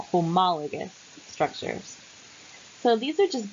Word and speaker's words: homologous: talk about homologous structures we pronounce this with the emphasis on ma homologous structures so these are